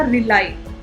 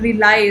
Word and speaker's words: rely: सो रिलाई की pronunciation is नॉट रिली या something ऐसे कुछ बोला आपने, but what I could take from the pronunciation, आपको वर्ड क्या बोलना है? रिलाई.